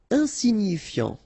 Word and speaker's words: insignifiant: Insignifiant. Okay, final T not pronounced, so you've got this I-A-N, ian, so F before, fiant. Insigni, okay, remember, G-N-I, ni, ni, insignifiant, insignifiant. Mineur, E-U-R, heure, mineur, mineur.